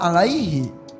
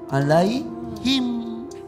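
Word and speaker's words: عليهم: Kak Irfan tadi bacanya alaihi. Harusnya adalah alaihim. Jadi di antara 1, 2, 3, 4 di soal ketiga Najah hanya menemukan 3.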